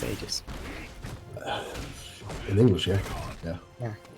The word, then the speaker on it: Aegis: Aegis is actually meant to be pronounced Aegis. But that sounds stupid, so I pronounce it Aegis.